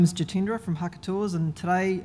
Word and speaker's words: Jitendra: those that are wondering how to say my name that's it up there the solely three syllables jitendra I'll be testing you